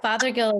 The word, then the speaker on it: Fothergill: And another great partner, and our friends that represent us, and Fothergill. am I pronouncing your name correctly? Yeah, Fothergill is perfect.